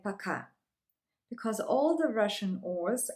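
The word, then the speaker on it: пока: you say goodbye in Russian it's very simple paka paka maybe you would ask why I have written it like poor car and it's pronounced like pakka because all the Russian ores are pronounced like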